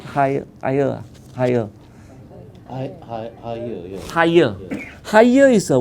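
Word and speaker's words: Haier: the chairman of haha you pronounce it higher higher higher higher is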